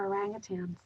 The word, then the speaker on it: orangutan: and his love for orangutans he loved them so much that he corrected people's words words the pronunciation of orangutan there is no g at the end of that word knowing that gave him